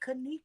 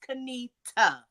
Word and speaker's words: Kanita: people like, oh, is it Kanik, Kanik? And I'm looking Girl. at no, it's Kanita. Say it right.